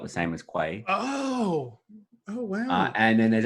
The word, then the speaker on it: Quay: I mean, because I would pronounce it key, but I don't know if that's just a pronunciation difference between how us colonials speak versus how you Americans speak.